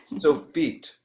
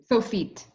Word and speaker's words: Sofit: you mind if I correct your pronunciation of the Please. Sophite? So feet. Sophite.